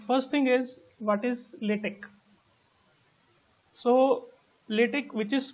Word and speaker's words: LaTeX: Okay, so the pronunciation is LaTeX. It's not LaTeX, and it is basically a tool which helps us to write the technical documents.